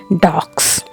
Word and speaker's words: dogs: For example, if you say dogs, so it's not S in the end, it is Z.